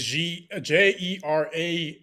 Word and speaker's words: Jerami: No, I think it's Jerami.